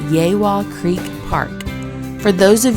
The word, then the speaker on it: Yegua: core of engineers park for this trip called yaywa Creek Park for those of you who grew up Hooked on Phonics like me it's spelled yagua but pronounced yawa yaywa Creek Park has three Loops of RV